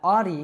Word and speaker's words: Audi: But for example, that Audi is really difficult because that ah sound that we have at the beginning doesn't exist in a lot of other languages. In fact, you know, on this channel all the time I say aw yeah. Now, it's not oh yeah. A lot of learners believe that I'm saying oh yeah, but it's not an o, it's ah.